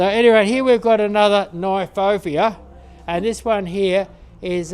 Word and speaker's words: Kniphofia: Kniphofia. Really? Yeah, because it's a South African plant. Oh, right. They'll pronounce the K and the N together.